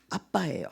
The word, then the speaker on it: 아빠: 이게 아빠라는 이 단어가요, 그 당시 아람어거든요. 아빠예요. 진짜 아빠예요. 발음이 똑같아요. 우리가 말하는 아빠하고 똑같은 아빠인데 이게 유아적인 언어를 하나님이 써서 예수님이 하나님께 아바 아버지라고 기도하셨습니다.